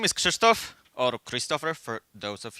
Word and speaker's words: Krzysztof: my actual title slide uh my name is christto or Christopher for those of you who don't speak Polish and are unable to pronounce this super sounding strange name uh and